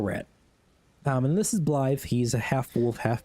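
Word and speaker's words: Blaidd: And Blythe is spelled B-L-A-I-D-D. Blythe.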